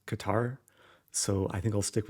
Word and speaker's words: Qatar: name of this country it seems like the typical English way of saying Qatar is Qatar so I think I'll